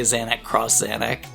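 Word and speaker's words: Zanac X Zanac: here we go again right now you just said zanic xanic but I would say zanic cross xanic and that's that weird Japanese thing where they do that a lot right right because in in America for example for the PlayStation controller we would say the x button they say the cross button right yeah it's probably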